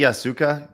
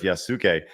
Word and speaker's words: Yasuke: John says, don't the Yasuka use Yakuza?